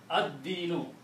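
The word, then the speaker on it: الدين: It kills the sound of lam. Ad-dinu.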